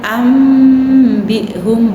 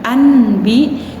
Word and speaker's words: ambihum: Nun sukun bertemu dengan huruf ba, bacanya ambihum, bukan anbi, tetapi ambihum.